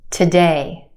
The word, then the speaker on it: today: Again, we've got two syllables in this word. Our second syllable has the stressed or emphasized vowel sound, A. We stretch that sound and put it in the spotlight. The first syllable is where we have our schwa sound, today.